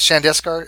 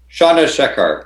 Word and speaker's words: Chandrasekhar: But is it Shandeskar? Is that how you pronounce it? Shandeskar? Chandrasekhar. Yeah, Chandrasekhar. The Chandrasekhar limit would be for electron degenerate pressure.